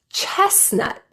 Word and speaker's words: chestnut: Chestnut. Only the first T is silent.